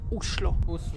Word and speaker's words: Oslo: in Norwegian, the right way to pronounce the name of the capital is Oslo.